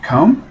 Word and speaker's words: Khoum: Bentley, it's pronounced Khoum?